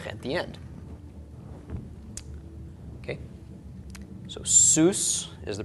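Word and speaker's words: סוס: and another summit at the end okay so Seuss is the pronunciation of this Seuss is a horse and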